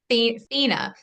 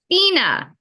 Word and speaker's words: Fina: How do you say your last name, Finna? Fina. Fina.